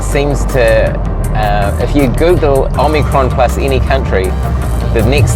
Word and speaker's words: Omicron: It didn't roll off the tongues like Delta. Omicron, 3 syllables, so a little bit trickier there.